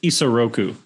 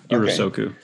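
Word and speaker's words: Isoroku: the military sorry i i mispronounced it's isa roku not soku so so anyway just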